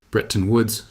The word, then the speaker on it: Bretton Woods: Behind closed doors at the Bretton Woods conference, that's pronounced Bretton Woods, world leaders designed a new financial system.